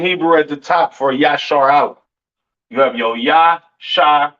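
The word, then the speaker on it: ישראל: And Israel is not pronounced Yasharal. It's not pronounced Yisrael in the Hebrew. That is not how you pronounce Israel. Israel is pronounced Yashar Allah.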